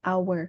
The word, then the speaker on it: hour: first letternya jadinya O karena huruf H ini jadi silent kita bacanya hour bukan Oleh karena itu kita